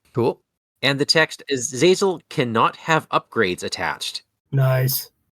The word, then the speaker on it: Azazel: Am I going to pronounce this right? This is Azazel, right? Yes. It is. Yes. Okay, awesome. Azazel, this is Nightcrawler's nemesis minion, who has 2 scheme, 3 attack, and 3 hit points.